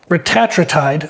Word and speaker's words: retatrutide: I believe the proper pronun uh pronunciation there you go is retatride.